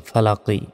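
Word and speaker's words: فلق: জবর লা কফ জেরি ফালাকি এখানে থামলে উচ্চারণটা হবে ফালাক কুল আউজুবি রব্বিল ফালাক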